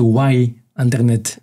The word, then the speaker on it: Ynternet: Parce que c'est avec un Y à la place du I. C'est un jeu de mots, c'est Why Internet.